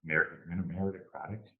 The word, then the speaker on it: meritocratic: the opportunity to be a bit more merit, meritocratic.